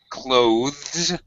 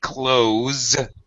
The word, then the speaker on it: clothes: 99% of all uh native speakers say close the same as close the door. Okay? Why? Because it's a lot easier. It's a reduced form, but uh it's a heck of a lot easier to say uh with a Z sound like close the door. I'm wearing Glad we brought warm clothes. It's just easier. So we basically dropped the th completely in other words.